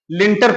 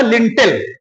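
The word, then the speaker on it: lintel: जबकि अंग्रेजी भाषा में लिंटर नाम का शब्द नहीं है। इसका जो सही उच्चारण होगा वो होगा लिंटल।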